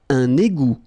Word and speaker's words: un égout: Un égout. Okay, little link between the two. Un égout. Final T not pronounced.